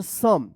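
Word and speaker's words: some: ओ उच्चारण होता है लेकिन यहां पे ओ का अ उच्चारण हो रहा है। जैसे यहां पे देखिए डी ओ एन E done L ओ वी E love पढ़ते हैं। उसी तरह से सम इसको आप याद कर लीजिएगा।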